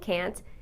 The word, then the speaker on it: can't: A lot of English learners think the difference is with the T at the end. However, listen to these examples. Can you hear me? I can't see you. You can pay online. You can't pay with cash. Did you hear the T? I didn't use the T sound in any of those sentences, and many people don't.